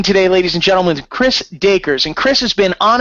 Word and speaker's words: Dacres: right it's Acres D you know like Acres like the land okay perfect we are going to talking today ladies and gentlemen Chris dakers and Chris has been